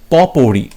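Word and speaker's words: potpourri: এবং আজকের video last question, দি concert ওয়াজ এ পপৌরি, এখানে টি এর উচ্চারণ হবে না, পপৌরি হবে, পপৌরি অফ ইভেন্টস, পপৌরি, ওকে।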